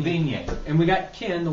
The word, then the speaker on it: Vigne: you pronounce it, Ken? It's Vigne. Vigne.